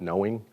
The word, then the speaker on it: KnowEng: They call it KnowEng, or actually I think they pronounce it knowing.